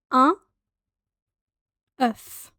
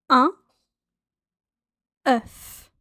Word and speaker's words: un œuf: One egg is un œuf. Un œuf. Un œuf. It's a funny sounding word. It kind of sounds like you're putting on an English accent on top of a French word, but that is how you pronounce it.